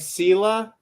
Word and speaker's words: Selah: Like Selah in the Psalms, but we're pronouncing it Selah.